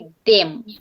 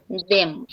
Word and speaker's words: them: আবার আমি যদি বলি them, তখন আমার them, they are. অনেক সময় বলি they are, them, বাট এটা জিহ্বাটা অবশ্যই আমার দুই দাঁতের মাঝখান থেকে যেতে হবে। they are, them, তখন আমার প্রোনাউন্সিয়েশনটা কারেক্ট হবে।